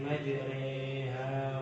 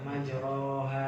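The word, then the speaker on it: مَجْرٰىهَا: Re itu antara fathah kan ke kasroh. Jadi majre, bismillahi majreha wa mursaha. Ini bisa ya, majreha bukan majroha.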